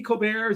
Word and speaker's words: Colbert: what you're doing yes i pronounced my last name colbert so on twitter i